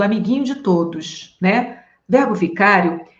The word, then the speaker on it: vicário: ouviu com outra pronúncia não é verbo Vigário não tá gente é verbo Vicário paroxítona terminada por ditongo crescente E aí professor O